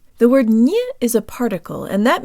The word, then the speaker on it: не: to pronounce the word ni, or not. The word ni is a particle, and that means that most often it is not stressed, and the ye sounds like an e.